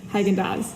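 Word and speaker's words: Häagen-Dazs: you i guess and it is pronounced hagen daz i searched i added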